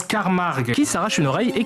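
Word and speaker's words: Carmack: Et ils arrivent à mettre la main sur le professeur Carmac. Non, ça se prononce Carmarg qui s'arrache une oreille et qui devient extrêmement bizarre.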